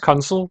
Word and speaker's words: Kunsel: It's pronounced Kunsel, but I think he's Kunsel because he's like counseling you on how to play the game.